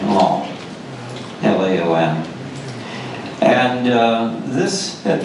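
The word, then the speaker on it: Laon: this is long it's one syllable pronunciation along l-a-om and uh this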